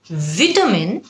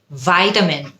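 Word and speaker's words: vitamin: ভিটামিন নাকি ভাইটামিন? ভিটামিন হল British উচ্চারণ। ইউ নিড টেক সম ভিটামিন C British. ভাইটামিন you need take some ভাইটামিন সি তখন হয়ে যায় ওটা আমেরিকান খেয়াল করে দেখবেন দুটোই কিন্তু কারেক্ট কিন্তু আপনি যেই এক্সেটা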